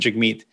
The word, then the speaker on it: Jagmeet: should pronounce it jag don't pronounce it jig meat which is the proper way to pronounce it he's like yeah i